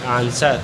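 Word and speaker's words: answer: है इसका आंसर वो एग्जांपल है ए एन एस ड आर एस के बाद डब्लू आ रहा है इसलिए इसको पढ़े एस साइलेंट होगा सॉरी डब्लू साइलेंट होगा एस के बाद डबल आ रहा है इसलिए डबल सा को पढ़ेंगे आंसर अगला है एस डब्लू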